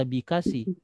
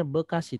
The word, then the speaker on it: Bekasi: Bekasi Tulisannya B kasih Tapi kalau kita baca jangan-jangan baca beekasih bacanya Bekasi tetap ia Bekasi nya tapi